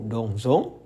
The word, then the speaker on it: dansons: Nah, untuk nous dansons dan vous dansez, kalian harus mengucapkan S di tengah-tengah itu dengan Z. Jadi, kalau di Prancis, kalau hanya ada satu S, mereka pengucapannya Z. Namun, kalau ada dua S, mereka baru mengucapkannya dengan S. Nah, di sini di dansons ini ada satu S, jadi bacanya adalah nous dansons.